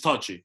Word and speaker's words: Touchy: Yes, it's touchy. It's just touchy. It's touchy? It's not touche. It's just touchy.